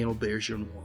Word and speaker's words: Auberjonois: "People, you're gonna have to learn how to pronounce my name. It's Rene Auberjonois."